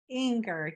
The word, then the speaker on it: Inger: Is it how do you pronounce Inger? Inger, yes.